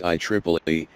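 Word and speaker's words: IEEE: Triple E I Triple A T which is pronounced I Triple E is the largest professional association that provides technical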